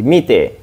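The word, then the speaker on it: 見て: melihat tapi enggak ketemu it juga minas bacanya bukan it tapi mite ini Bang ada ini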